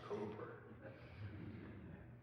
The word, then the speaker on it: Cowper: And when I geek out, no matter how it's spelled, he pronounced it cooper.